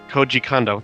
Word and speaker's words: Koji Kondo: Well, you got the first one right, Koji Kondo. That would be the correct pronunciation.